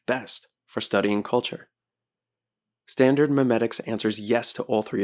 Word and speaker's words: memetic: Memetic theory is M-E-M-E, meme like gene. Mimetic theory is M-I-M-E, like mime.